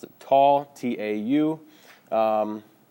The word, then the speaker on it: tau: I pronounce it tau, T-A-U.